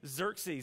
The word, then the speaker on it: Xerxes: King Xerxes and uh that's not how you think you would say his name by how it's spelled but his King Xerxes and if you've seen